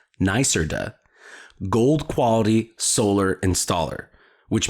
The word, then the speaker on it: NYSERDA: Suncommon is a NYSERDA, NYSERDA, pronounced NYSERDA, gold quality solar installer, which means they exceed annual quality assurance criteria and consistently provide top-tier performance.